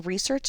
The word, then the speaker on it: research: In this case, when research is a noun, it is two sounds or two syllables. We can see the stress mark here indicates that the first syllable re is stressed a little more loudly and a little